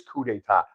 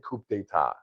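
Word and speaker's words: coup d'état: It is coup d'etat. I said coup d'etat.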